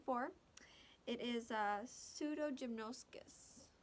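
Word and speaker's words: Pseudogymnoascus: White nose syndrome is caused by a fungus, which I need to see the pronunciation for. It is Pseudogymnoscus. Pseudogymnoscus, yes.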